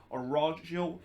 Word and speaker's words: Araujo: to deny Araujo, and I believe that that's how you pronounce his name and not Araujo as the Spanish pronunciation. He's actually Brazilian, so I guess that's how you pronounce it in Portuguese instead of how you're pronouncing it in Spanish.